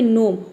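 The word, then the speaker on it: gnome: जैसे कि एग्जांपल देखिए यहां पे नोम वट के शुरू में जी एन आया है तो यहां पे जी लेटर साइलेंट है और एन ओ एम ई ये हो गया आपका नोम ठीक उसी तरह से यहां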